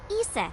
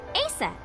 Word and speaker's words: Isis: Horus's mom is named Isis. Yeah. But in ancient Egyptian, it's pronounced closer to Iset or Aset.